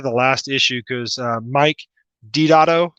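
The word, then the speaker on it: Deodato: I'm trying to get from I think it's 383 to the last issue because Mike Dotto, that's how you pronounce his last name. It's not Delgado.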